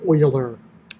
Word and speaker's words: Euler: Let's It's pronounced Euler, I've been told.